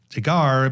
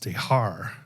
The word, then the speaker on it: de Haar: So I always thought it was de Garre, but Jackie told me who was there too. And her husband. Uh, they say it's pronounced (de haar).